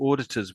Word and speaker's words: auditors: I think your auditors was the best one actually. Auditors, auditors, auditors. So although it's a u, it's it's almost as if it's spelled o r at the beginning or I know this is the wrong spelling of course.